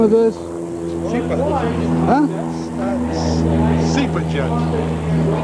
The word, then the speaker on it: SIPA: SIPA jet. How do you spell that?